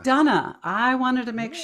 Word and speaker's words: McDonough: And, your last name is pronounced McDonough? McDonough. McDonough.